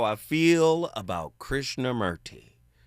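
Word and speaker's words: Krishnamurti: You already know how I feel about Krishna Merti or Krishna Morty as they pronounce it correctly.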